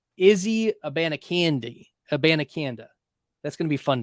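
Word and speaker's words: Abanikanda: Hubbard go at running back 54 and Israel a banakanda that's how you pronounce it it's not a a band of candy uh it's it's well it's not a bandiconda it's Israel a banacanda and I I figured it out by listening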